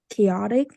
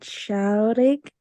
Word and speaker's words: chaotic: Abby said um I also agree on the pronunciation part I also noticed like the word chaotic she said like chaotic so I just want to make it notice